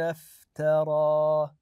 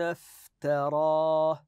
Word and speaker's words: افترى: ام ام ام يقولون افترى ولاحظوا الالف الصغيره هذه هذه الف تنطق الف مثل الالف العاديه ام يقولون افترى هكذا نمد هذه الالف ايضا بارك الله كم